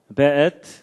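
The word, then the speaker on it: וְאֵת: 베엣. 요게 이제 W인데도 이게 독일식 발음을 해서 베 이렇게 읽는다고 합니다.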